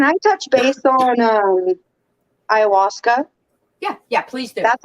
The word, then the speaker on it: ayahuasca: Youth but can I touch base on um Ayahuasca yeah yeah please do that's how that's pronounced by the way okay Ayahuasca so Ayahuasca